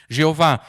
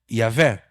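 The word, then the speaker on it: Yahweh: Testemunhas de Jeová, elas não gostam muito de Yahvé, elas preferem Jeová. O problema é que Jeová jamais poderia ser a pronúncia do nome de Deus. A pronúncia é Yahvé.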